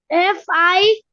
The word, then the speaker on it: finished: Finished, and the E is not pronounced. So finished, D, finished. Okay, finished. And the D, last D, sounds almost like a T, between T and D,